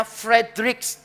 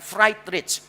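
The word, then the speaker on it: Friedrich: Bacanya Frederich ya. Jangan Fri Rich. Ini satu-satunya orang kaya yang bisa digoreng namanya Fright Rich Nitse bacanya Fred Nitze.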